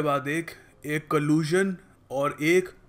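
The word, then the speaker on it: collusion: दो वर्ड समझाऊ एक के बाद एक एक कलज और एक कोलिजन दोनों में कभी-कभी लोगों को कंफ्यूजन हो जाता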